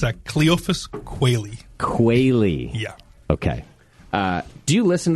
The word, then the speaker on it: Quealy: thing of of endearment we keep aist of mispronunciations you do qua yeah like the bird okay where does the name